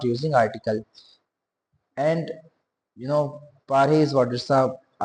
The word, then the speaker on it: Paris: in I live in Paris pari s is silent in French right pari how do we pronounce it pari jabit aari next is I am doctor.